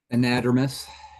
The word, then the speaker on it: anadromous: Hesse has expertise in anadromous. You're going to have to correct me on that one, Jay. I can't pronounce that. Anadromous. Anadromous, thank you.